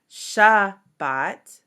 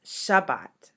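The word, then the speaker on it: שַׁבָּת: how we pronounce it, it's not Shabbat, but it's Shabbat. Shabbat. So there is a closing to that syllable that includes the bait.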